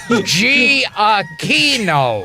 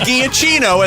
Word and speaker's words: Giacchino: Padre and greeting of I spelled it out for phonetically I didn't want to happen when you got your Oscar Michael G Akeno beautiful not giacchino as they said at the Academy Awards well it's funny could